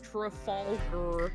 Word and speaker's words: Trafalgar: I was like, just for later, it's pronounced trfalger. Trafalar.